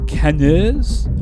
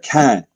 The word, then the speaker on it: Cannes: eclectic event it's a is that queers at canaries i know i know it's french i got the pronunciation right there uh no you've got the